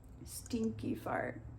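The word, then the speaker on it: Stinqué-Pharrte: a lot of letters how exactly is that pronounced stinky fart oh my word can you spell that again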